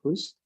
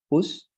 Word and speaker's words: whose: Whose, and the pronunciation here is whose. As if you were saying justicia, but you of course omit the ticia, and you say whose.